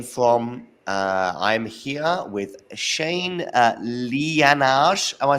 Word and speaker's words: Liyanage: I'm here with Shane Liyanage.